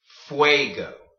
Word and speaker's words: fuego: before you'll know that Fuego is the word for fire okay so you see how you're making the way sound in there when you have a UND next to each other so wait go or another example that